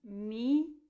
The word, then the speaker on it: mirabilis: So the I sounds are all E sounds. Mirabilis.